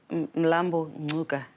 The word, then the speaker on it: Mlambo-Ngcuka: said in South Africa there's a pronunciation that I missed what is it yeah lambu Luka okay it's it's the